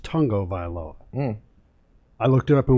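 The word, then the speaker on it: Tagovailoa: learned today even though it's spelled tagoviloa it's pronounced tongo vilo i looked it up in wikipedia that's how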